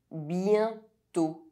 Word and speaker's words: bientôt: Circumflex O is pronounced O. Bientôt.